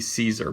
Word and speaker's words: Cesar: I believe it's pronounced Cesar. It's C-E-S-A-R. It could be Caesar, but I think it's Cesar.